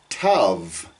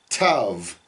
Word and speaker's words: Tav: and the letter Tav in English, we would pronounce that with a very hard T, where you put your tongue at the back of your teeth, Tet, Tav. But in Hebrew, it's a softer on both of those.